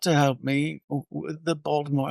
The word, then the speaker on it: Baltimore: I mean, the main thing about Baltimore is that I know is that you don't pronounce the T in Baltimore.